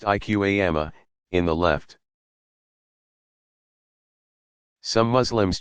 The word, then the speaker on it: iqama: In the infant's right ear and the invitation to begin the prayer, iqama, pronounced iqama, in the left.